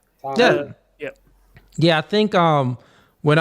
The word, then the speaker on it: Talmud: I did pronounce Talmud. I think it's Talmud, right? Talmud.